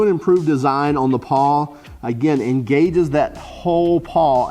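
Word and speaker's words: pawl: So the new and improved design on the paw, again, engages that whole paw at one time. Paw, if I'm pronouncing that wrong, it's P-A-W-L is what I'm trying to say.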